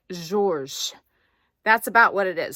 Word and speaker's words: Georges: it's spelled like Georges g-e-o-r-g-e-s and if you look up the French pronunciation it's the S is silent and so it's like Georges that's about what it